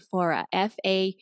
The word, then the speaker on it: Faure: And that's why I didn't say your last name in the beginning because I was like, I don't know how to pronounce that. Faure.